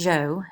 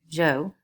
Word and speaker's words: Zhou: this time period so this is pronounced Joe in English English z h u Joe and the Joe people